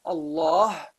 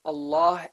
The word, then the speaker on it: Allah: there's no kasra so the name of Allah is a heavy pronunciation of the lamb there have also in